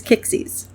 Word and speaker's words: Kiczys: Her last name is spelled weird. It's just a random mishmash of letters I threw down. And I pronounce it as Kiczys. So, Kalin Kiczys.